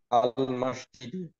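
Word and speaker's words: المسجد: আচ্ছা, এখন আপনি বলেন তো, এই শব্দটা উচ্চারণ করেন। আল মসজিদ।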